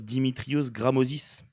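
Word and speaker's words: Dimitrios Grammozis: Flo, est-ce que tu peux me le prononcer parce que je m'y essaierai pas cette fois? Mais bien sûr, Dimitrios Gramosis.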